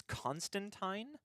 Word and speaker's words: Constantine: except the Sandman show it's supposed to be like wine not teen sorry Alan Moore so it's Constantine what when what's the